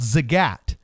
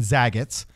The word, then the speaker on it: Zagat: is Zagat rated or they mispronounce it saying Zagat's okay but it's very